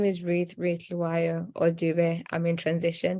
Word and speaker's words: Dhliwayo: today um say my name is Ruth Ruth lawyer or Dube I'm in transition because I'm currently